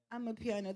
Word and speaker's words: Amapiano: Amapiano.